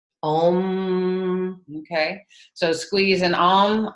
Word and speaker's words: Om: So if you can squeeze, and then the sound is om. Om. Okay. So squeeze and om. Om. So enunciating every syllable, letting it vibrate.